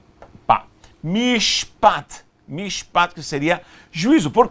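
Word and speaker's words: משפט: As palavras originais é Hesed, Emet, Sedek e Mishpat.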